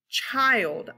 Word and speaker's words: child: This vowel followed by a consonant is supposed to be short, but it's not. This word is child, I, child. So it's making a long I sound.